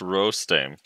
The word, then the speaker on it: Rostame: For the fourth time, it's pronounced Rostame.